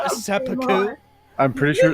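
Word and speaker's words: 切腹: That's pronounced seppuku.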